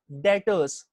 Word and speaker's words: debtors: debtors of the business this term is pronunciate 'add as debtors be remains silent the pronunciation will be debtors so by far the